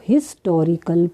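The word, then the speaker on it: historical: अब देखो हिस्टोरिकल place, पर ये किसकी साउंड है? यहाँ साइलेंट है एच, तो इसको हम पढ़ते हैं हिस्टोरिकल।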